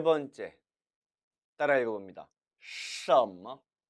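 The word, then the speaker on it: 什么: 什么, 什么, 神 그리고 뭐, 뭐 경성 처리해야겠죠.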